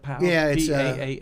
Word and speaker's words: PAL: have a youth program is it pal is that how you pronounce how you pronounce that pal yeah uh police Athletics and